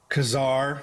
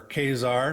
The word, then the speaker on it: Ka-Zar: But here in X-Men number 10, this issue is well known for being the first appearance of Ka-Zar, or Ka-Zar, depending on how you like to pronounce it.